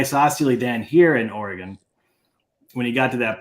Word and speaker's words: Oregon: but he mispronounces it Oregon Oregon it's Oregon like a gun and uh it's a